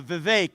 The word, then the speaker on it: Vivek: your name it's uh Vivek it rhymes with cake I found that most